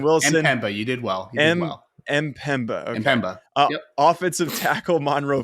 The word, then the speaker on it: Mpemba: Harris, edge Samuel Mpemba. Should have asked Ryan how to pronounce that one ahead of time. Linebacker Waylon Wilson. Mpemba, you did well. Mpemba.